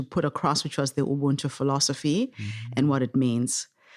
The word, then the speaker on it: Ubuntu: Ubuntu. Am I pronouncing that correctly, by the way?